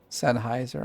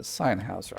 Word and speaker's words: Sennheiser: That's Sennheiser, I think is how you say it.